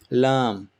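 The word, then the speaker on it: ل: Lam, very straightforward, like L in English, like love. So lam.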